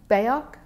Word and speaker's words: Biak: as being a Gila monster, in the neck, Biak is right in a little island. There's one or two islands in there. Can you spell that, please? Hmm? Biak, was it?